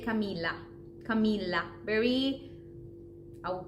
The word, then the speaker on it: Camila: because this is where most people would say Camilla Camila and the problem is in the L we would say Camila Camila very I would call it dry L